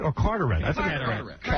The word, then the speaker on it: Carteret: Well, Hank will be appearing at Charlie's Angels in Catarette or Carterette. I think cataract cuz it's spelled C A T here. It's Carter. Carterette, New Jersey. Yeah, not Catarette.